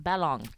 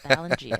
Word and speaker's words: Ballong: The first thing, though, Tom, he taught me, his gamer tag's pronounced Ballong, not Balongi, as I definitely pronounced it before.